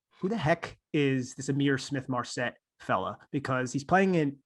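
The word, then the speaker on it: Ihmir Smith-Marsette: Let me let you pronounce the wide receiver out of Iowa. That's Amir Smith Marset.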